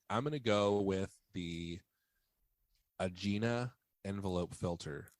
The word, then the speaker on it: Aegina: gonna go with the Aegina Envelope Filter it's pronounced agina the agenda it has